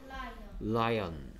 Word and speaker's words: lion: 그래서 한국 사람들은 라이 온이라고 하는 사람들도 많아. 오가 오단다고 생각하기 때문에. 하지만 영어 발음은 라이언.